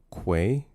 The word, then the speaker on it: quay: It's pronounced quay. Uh, say it with me now. The Q. Quay. Quay. Quay. Right. Or else I will be disappointed.